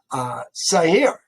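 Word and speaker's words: Seir: Let's understand who we're talking about when we say it's actually Sair, the hard sound or the accent is on the second syllable.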